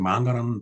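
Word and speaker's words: 漫画: 근데 나중에 이제 일본말을 공부하면서 보니까 만화가 일본 발음으로 이제 만가였습니다. 근데 일본 사람들은 이제 만가라는 표현보다 이 애니메이션이라고 이제 부르죠.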